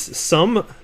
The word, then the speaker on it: Xumm: This is Sum, and it's spelled Xumm.